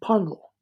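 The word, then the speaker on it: Puncknowle: shot in this extraordinary shoot called pel which is spelled Punk nol down in Dorset which is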